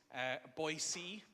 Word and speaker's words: Boise: And I got to explain this weird, ultimately it's Boise, in case you're wondering, pronunciation of that town.